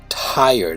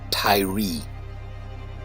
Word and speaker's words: Tyre: Tyre, that is Tyre, pronounced by Americans Tyree, as in Tyree Nichols, who was beaten in Memphis by the Memphis Police Department and died 3 days later.